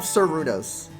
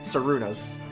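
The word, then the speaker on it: Cernunnos: The N is silent. For that one. There you go. The stipulation, it's an RN, so it's silent. Sarunos.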